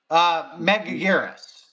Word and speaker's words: Megaguirus: Mugaris? Megaguirus.